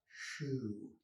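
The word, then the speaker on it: xu: that's pinyin um and the x in pinyin is pronounced like s h so x u would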